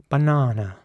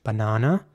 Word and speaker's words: banana: somehow pronounced differently so in American English it would be nana banana and in British English it would be banana British English Banana American English Banana here's